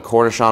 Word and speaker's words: cornichon: that's how you get what's called the cornichon around the edge pronounced and spelled just like the pickle but if you say